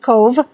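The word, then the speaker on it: Cobh: its name to cove it's pronounced cove well about 11 42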